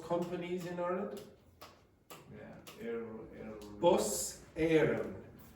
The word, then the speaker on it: Éireann: Yeah, Bus Éireann. So it's bus and then E accent, I-R-E-A-N-N.